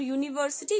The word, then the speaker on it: university: y o or y a is used before university just because the long sound of you or the sound of you like y yo you you okay indefinite article before